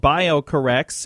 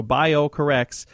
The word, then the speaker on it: BioCorRx: the company is called bio corrects and I'm going to spell that for you because it's spelled a little different it's B IO c o r and then RX like prescription so bio corrects and again if you'd